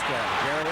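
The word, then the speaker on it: Gery: That's Gary Ellis spells it G E R Y but he pronounces it Gary then Dicki of course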